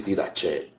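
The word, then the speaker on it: Didaché: No se escribe con la CH, pero le leen así, didache.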